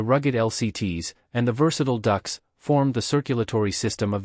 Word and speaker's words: DUKW: Pronounced duck, it was a miracle of adaptation. It was a standard 2 and a half ton truck encased in a watertight hull.